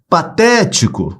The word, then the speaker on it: patético: Patético, olha lá, separei as sílabas. Patético. Última, penúltima, antepenúltima. A antepenúltima é onde se prolonga. Vai ser a sílaba tônica.